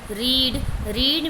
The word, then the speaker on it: read: Next है रीड में first second and third तीनों ही फॉर्म्स में स्पेलिंग सेम जाएगी, हल्का सा हमें प्रोनाउंसिएशन चेंज करना होता है READ रीड रेड।